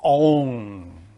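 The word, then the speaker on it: און: force is called aoun alef noon is pronounced own which is the sexual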